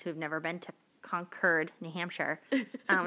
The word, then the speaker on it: Concord: like the north carolina concord no it's concurred conquered just like a northerner would say it yeah i mean i